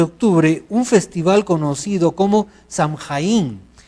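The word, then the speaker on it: Samhain: un festival conocido como shangay in que se pronuncie pronuncia show in que significa el fin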